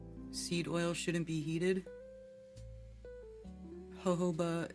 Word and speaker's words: jojoba: Jojoba is pronounced jojoba, yeah.